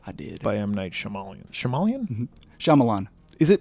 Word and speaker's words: Shyamalan: movie the visit i did i am night shamalian shyamalan is it pronounced shyamalan yeah i didn't wanna i was trying to be fancy it's shyamalan so yeah so that's the movies we're going